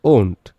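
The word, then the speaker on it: won't: বিশেষভাবে তোমরা মনে রাখবে কারণ এটার উচ্চারণটা হল ওন্ট বানানটাও একটু খেয়াল রাখো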